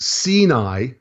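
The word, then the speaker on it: סיני: the word sinai okay which in hebrews pronounced sinai right and the hebrew word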